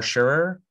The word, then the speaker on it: Sherrer: us today um i'm speaking with um omar sharer did i pronounce that correctly your last name that's right